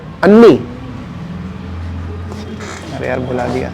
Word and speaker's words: Anni: ANNI, कितने बार एन है? Triple N, double A, कैसे पढ़ेंगे इसे? प्रोनाउंस कैसे करेंगे? अन्नी।